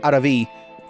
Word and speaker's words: Aaravi: So that is the guide to getting Aaravi, the Slayer, which I keep trying to say her name properly, and it just comes out as something gross, but it's supposed to be Aaravi.